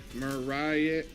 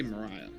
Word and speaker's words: Maria: Mariah. All right, you're gonna have to give me the pronunciation. I want to say Mariah, but hey, welcome, Maria. Oh, perfect, you got it, Maria.